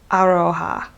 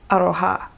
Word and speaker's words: Aroha: pronounce it wrong because I know it's not Aroha, it's Aroha. She's, Frenchie is the woman who is the owner of ArohaKnits. I can't do it. I want to say it like aloha, but it's Japanese and the accent is on the ha part of the word.